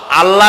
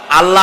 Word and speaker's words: আল্লাহ: আল্লাহ বলেন তো আল্লাহ নয় কিন্তু আল্লাহ হচ্ছে অশুদ্ধ শুদ্ধ হচ্ছে আল্লাহ বলার সময় মুখটা গোল হয়ে যাবে বলেন তো সবাই উচ্চারণ